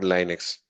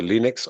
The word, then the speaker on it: Linux: which is named as Linux or Linux. So both the pronunciations are correct. Whatever you feel you comfortable, you just pronounce it with that way. So Linux or Linux.